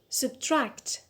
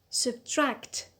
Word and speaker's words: subtract: first syllable which is subtract subtract the stresses on tract on the last syllable the second syllable tract elephant elephant good the